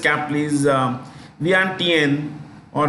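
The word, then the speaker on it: Vientiane: Thailand is Laos Laos say cap is um vant or vianen vant is spelled like v i en I repeat v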